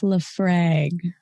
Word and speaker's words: Laphroaig: It's I'm like, MJ can pronounce it for me. It's Laphroaig.